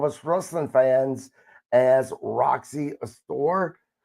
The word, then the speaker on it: Astor: And am I pronounced, is it Astor or a star? Oh boy, let me correct that whole sentence. Who the heck is? Oh, Oh my gosh, who is that? Oh. um, let's see. There's a Phelps in my past floating around. Astor, Roxy Astor, Roxy Astor. Astor, however you would like to pronounce it.